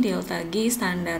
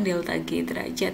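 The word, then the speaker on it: ΔG°: Nah, delta G yang ada simbol derajatnya ini dibacanya delta G standar, bukan delta G derajat ya.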